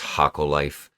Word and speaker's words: Hokko Life: life i don't know if you call it hoka life or haka life leave a comment below whatever you call it i know it's hakko life i looked it up and uh did a pronunciation of it but i call it hulka life i don't know why i like the way it sounds but anyway so the